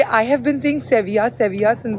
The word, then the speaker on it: Sevilla: I have been seeing सेविया सेविया since the beginning और पापा बोल रहे थे सर्विल एंड सर्विल is British pronunciation and ये लोग का खुद का जो एंडलुसियन प्रोनाउंसिएशन है स्पेनिश दैट इज सेविया तो जो भी आप